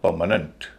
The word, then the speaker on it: permanent: तो इसको बोला जाएगा परमानेंट। परमानेंट परमानेंट नहीं परमानेंट क्योंकि एडजेक्टिव है। स्ट्रेस पहले हिस्से पर है। दूसरे और तीसरे हिस्से हल्के बोले जाएंगे।